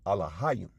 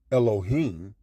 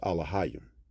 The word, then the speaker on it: Elohim: Hebrew, if you will, Elohim, but that's not a Paleo Hebrew word. To pronounce it properly in the ancient tongue, it's Alahayim, all right?